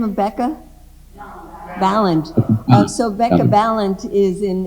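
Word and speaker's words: Balint: Ballant.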